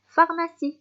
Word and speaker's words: pharmacie: pharmacie. سي بون. نروحوا الحرف الاخر، زوج حروف الاخرين اللي متلاصقين ويتنطقوا حرف واحد هما سي اش.